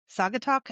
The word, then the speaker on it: Saugatuck: Did I Saugatuck? Am I pronouncing it? Saugatuck.